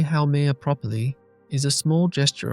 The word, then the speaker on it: Haumea: Pronouncing it correctly as how may a takes some practice for English speakers unfamiliar with Hawaiian pronunciation. But learning to say how may properly is a small gesture of respect for